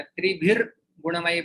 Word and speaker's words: त्रिभिर्गुणमयैर्भावैः: हाँ, तो यहाँ पर जो विसर्ग है उसका रेप में परिवर्तित हो जाए, त्रिभिर गुणमय बनता है और गुणमयैर भावै र का उच्चारण आ जाता है विसर्ग की जगह पे।